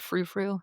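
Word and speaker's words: frou-frou: I'm really big into, a lot of people, the word frou frou. Is that the correct way to say it? Yes. Frou frou things.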